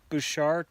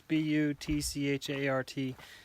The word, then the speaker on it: Butchart: A guy named Harvey, I think you say his name Bouchard or Bouchard. It's Butchart.